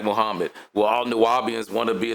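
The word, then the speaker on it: Nuwaubian: Or you could say Nuwapian, but it's the same word, right? And he also said it's Nuwapu back in Nuwapo, he said it different ways. But in the Constitution, it's spelled with a B, so that's what I go with.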